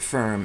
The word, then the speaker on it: FURM: of renunciate messengers but i pronounce it firm as if spelled f-i-r-m in english language the word firm it